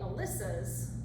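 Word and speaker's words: Alyssas: care then we have the Alyssa's and yes that is how that is pronounced I checked several times by Samantha Leach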